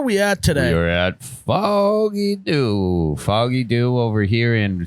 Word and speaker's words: Foggy Dew: name was because I didn't know how to pronounce it so it's foggy foggy do do do hey when you